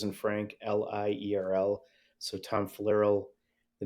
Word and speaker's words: Flierl: LinkedIn um so Tom and my last name is spelled f as in Frank l-i-e-r-l so Tom falero the name of the company is amla amla